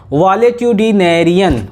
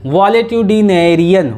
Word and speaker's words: valetudinarian: पहले स्पेलिंग में पढ़ रहा हूं, VALETUDINARIAN। क्या होगा बताइए? VALETUDINARIAN, वॉलेट्यूडिनेरियन, वॉलेट्यूडिनेरियन, वॉलेट्यूडिनेरियन।